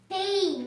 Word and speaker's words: pain: Pain, not pale. We don't read I because it is silent letter.